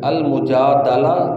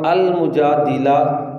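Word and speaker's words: المجادلة: بیان ہوگی۔ سورۃ المجادلہ اس کا 2 طرح تلفظ ہے جی، المجادلہ دال کے زبر کے ساتھ، اور المجادلہ دال کی زیر کے ساتھ۔ اگر دال پر زبر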